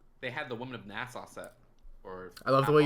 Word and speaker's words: Nassau: But I found almost bought stuff because they had the Women of Nassau set. I love the way you say NASA. Really? How do you say it? NASA.